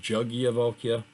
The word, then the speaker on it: Yajnavalkya: on page 206 yajnavalkya I've heard that pronounces juggy evoke iya which I'll be using that why is this felt with a Y and a J if it's pronounced jug yet but at any rate